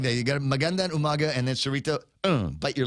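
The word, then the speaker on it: Magandang Umaga: you gotta say it like that you got Mandan Umaga and then serito bite your lower lip you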